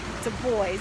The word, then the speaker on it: Du Bois: All right, the great Western philosopher W.E.B. Du Bois, as he pronounced his name, one of the greatest philosophers ever, I believe, especially to come out of the West.